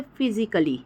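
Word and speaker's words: physically: तो आप समझ जाना कि वहां पर वो साइलेंट हो गया है ठीक है नेक्स्ट अगर बात करते हैं तो फिजिकली ठीक है फिजिकली में भी सेम वही चीज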